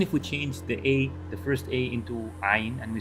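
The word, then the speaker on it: عين: Ain means where, but it's not Ain, it's Ain, Ain, Ain. So it's very difficult. So even if we change the first A into Ain, and we say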